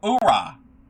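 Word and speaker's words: hurrah: Oh urra. Don't pronounce the h.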